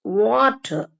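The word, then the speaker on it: water: கேட்கக்கூடாது நீங்க எப்படி கேட்கணும் இட்ஸ் வாட்டர் இதுதான் ப்ராப்பர் ப்ரொனௌன்சியேஷன்ங்க கடைசில அந்த ர் வராது ர் வராது டபள்யூ வந்து வா அப்படின்னு வாய் வந்து ரவுண்டா வரணும் அப்ப வாட்டர் அப்படின்னு பிளாட்டா வராம வாட்டர் இந்த ஆர் சவுண்டையும் நிறுத்திக்கணும் நம்ம சொல்லக்கூடாது அப்ப வாட்டர் வாட்டர்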